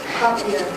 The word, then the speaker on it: cochlear: And this one, I don't know how to pronounce it correctly. Cochlear.